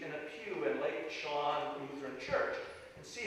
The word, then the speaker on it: Chelan: Chelan, thank you.